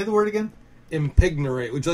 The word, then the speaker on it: impignorate: Impignorate. Would you like me to spell it?